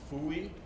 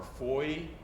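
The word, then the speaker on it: Fooy: Foy is spelled F-O-O-Y, and it's either pronounced Fooey or Foy, and then it was Americanized, like most of our names, to Foy, F-O-Y.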